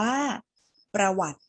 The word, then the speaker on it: ประวัติ: ออก เสียง ตัว ไหน เรา ไม่ ออก เสียง สระ อิ ที่ อยู่ บน ต เต่า เห็น ไหม คะ อ่า เรา ไม่ อ่าน ว่า ประวัติ ติ เรา อ่าน เพียง แค่ ประวัติ เลย ไม่ ยาก ใช่ ไหม